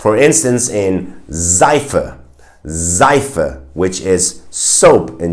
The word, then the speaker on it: Seife: But sometimes, and mainly when the S is in the beginning of the word, it will be pronounced as a Z sound. For instance, in Seife, Seife, which is soap